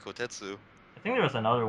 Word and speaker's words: Kotetsu: Pepsi, the manager was asking how do you pronounce his name, and he said it's Kotetsu.